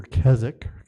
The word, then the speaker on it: Keswick: His family came from Threlkeld, which is just near Keswick, or Keswick is how it's spelled, in the Lake District, pardon me.